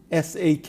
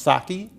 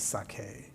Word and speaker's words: sake: you'll tell me if I'm pronouncing it properly it's spelled s a ke I think it's pronounced saki well that's how most people pronounce it the real pronunciation is sake sake but we can get away is that